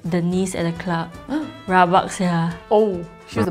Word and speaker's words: rabak: Rabak. Rabak? Rabak? Yeah, rabak. Am I pronouncing it right? Okay, I think in Singaporean, like Singlish slang, you just have to go downwards.